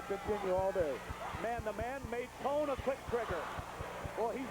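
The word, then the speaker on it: Maton: also at Shelbyville, and the Rams people say Matt, M-A-T-O-N, pronounces his name Maytone. That's what the coaches told me. Well, okay, that's not what Adams is doing. What is he calling him? Maytone.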